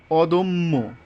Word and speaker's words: অদম্য: আলস্য কি বলেছে যে মধ্য এর পরে যদি জফালা থাকে তবে অ এর উচ্চারণ ও এর মত হবে যেমন এখানে মধ্য এখানে দয় মনে মনে মনে কি আছে অ আছে এরপরে জফালা আসছে তাহলে কি হবে ওকার হয়ে যাবে অদম্য অদম্য এখানে যথারীতি এই যে যুক্ত